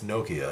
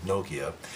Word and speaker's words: Nokia: It's not Nokia, it's Nokia. It's like Tokyo, Nokia.